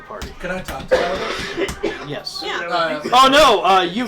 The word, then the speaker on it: Jarvis: Jarvis. The Y is silent, Jarvis.